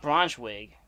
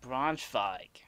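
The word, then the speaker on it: Braunschweig: that city it's not bronze wig w's are pronounced like v's in german so it would make it like bronze fog yeah bronze five that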